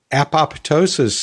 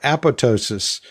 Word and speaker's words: apoptosis: And we talked about how upset some people get when you say apoptosis instead of apoptosis. That is, when you pronounce the P instead of keeping it silent like it, quote, is supposed to be pronounced.